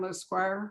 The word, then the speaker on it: Lescroart: I don't know if you all know the author John Lesquire. His name is spelled Lescroart, which is Irish, and it's pronounced Lesquire.